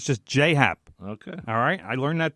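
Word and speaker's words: J. A. Happ: know his initials are J a but it's pronounced J so it's just Jay Happ okay alright I learned that the other day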